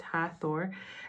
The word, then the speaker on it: Hathor: Believed to Believed to ancient Egyptians for over 3,000 years, Hathor, pronounced Hathor, is a goddess of light, joy, and gratitude.